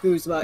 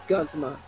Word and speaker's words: Guzma: the anime I'm like it's not guzma it is gosma guzma I've heard what